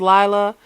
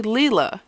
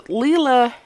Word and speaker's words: Leela: y'all we see now i've been pronouncing her name wrong i think a lot of us have i thought it was lila but it's actually leela so leela yamamoto came into the